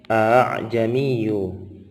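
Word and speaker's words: أأعجمي: Jadi kita membacanya a'jamiyu, bukan a, ya.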